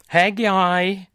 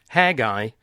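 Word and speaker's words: Haggai: know and you will Hagi and zachar the prophets will get to them but that fits in with this period under Ezra don't mispronounce Hagi like I almost did it's not Hagi it's Hagi and then Ezra Nehemiah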